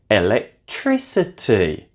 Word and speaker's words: electricity: And finally, a word that I found interesting when I came to Thailand, electricity. Electricity is 3 syllables from the end is the stressed syllable.